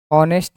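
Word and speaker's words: honest: जैसे मैंने यहाँ पे लिखा है ऑनेस्ट मैन, समझिए एच इसमें साइलेंट है तो इसको ऐसे लिखेंगे ऑन, ये आएगा ऊपर ऑनेस्ट, ठीक है। और ये ओ आ रहा है तो क्या कर देंगे? ये साउंड कैसा है? वॉवल साउंड है।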